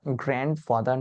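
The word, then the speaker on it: grandfather: একটু ঘেটে নেবেন উচ্চারণটা গ্র্যান্ডফাদার নয় গ্র্যান্ড ফাদার ডিটা সাইলেন্ট থাকবে গ্র্যান্ডফাদার বা ছোট করে আমরা এটাকে গ্র্যান্ডপাও বলতে পারি।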